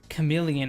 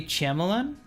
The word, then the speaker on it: chameleon: So when I say chameleon, I pronounce it completely incorrectly. Should you say chamlan?